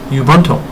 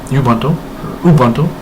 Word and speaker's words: Ubuntu: I am running an operating system called Ubuntu, or Ubuntu.